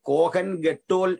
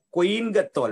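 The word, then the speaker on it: כהן גדול: നമ്മൾ ഇംഗ്ലീഷ് പഠിച്ച ആളുകൾ കോഹൻ ഗെട്ടോൽ എന്ന് പറയും. കോഹൻ ഗെട്ടോൽ, ശരി പ്രൊണൗൺസിയേഷൻ. കൊയിൻ ഗത്തോൽ, മഹാപുരോഹിതൻ, ഇങ്ങനെയാണ് പറയേണ്ടത്.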